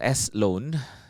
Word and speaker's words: SLoan: people and it has an unfortunate name called s loan it's spelled s-l-o-n without space yeah Sloan and then